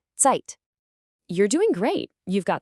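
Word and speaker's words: Zeit: And finally, the letter Z is always a sharp T sound like the sound at the end of the word cats. So the word for time is tight.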